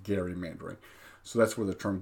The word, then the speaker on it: gerrymandering: then called it gerrymandering, which today we call gerrymandering, but really should be pronounced gerrymandering.